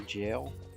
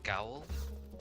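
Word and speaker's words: Gaol: and uh jail but I used to say it G and then I watched a video and they were all saying it jail and then I learned that it was the old word for jail so I was like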